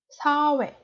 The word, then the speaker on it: 사회: I didn't make an accent on the consonant h, so it's not hue or something like that. It's like softly hue, hue, softly and short. 사회, 회.